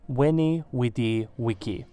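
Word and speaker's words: veni, vidi, vici: IVLIVS CAESAR’s famous quotes was in fact pronounced “weni, widi, wiki”, and once he crossed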